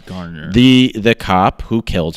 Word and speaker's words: Garner: loose cigarettes who eric gardner eric gardner garner gardner everyone pronounces it wrong it's garner the the cop who